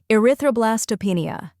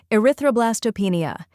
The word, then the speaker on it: erythroblastopenia: slowly a r roenia try repeating after me erythroblastopenia now a little faster erythroblastopenia and at full speed erythroblastopenia keep practicing and soon this word will roll